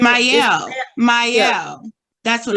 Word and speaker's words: Mielle: Like it's not pronounced Michelle. It's like Mielle or something like that. Mielle.